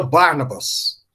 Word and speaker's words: Barnabas: Em grego é Barnabás, oxítono. Engraçado que em inglês ficou igualzinho no grego, com a diferença que mudou a sílaba tônica, né? Em inglês passou para proparoxítona, aí vira Barnabas, né?